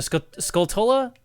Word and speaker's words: Skulltula: on the d-pad so skulltula is pronounced skulltula this is confirmed everybody pronounces it like that there's like no debate on how you're supposed to pronounce it but i think the original pronunciation was supposed to be sculptura like tarantula i'm pretty sure and like that just got like nobody realized it at the time but that's my theory i'm pretty sure that was the intended pronunciation of the word okay did the frugs